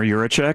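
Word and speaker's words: Yurachek: Hunter Urak.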